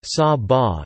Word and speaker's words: Saba: Saba, Dutch pronunciation, Saba, is a Caribbean island which is the smallest special municipality officially public body of the Netherlands.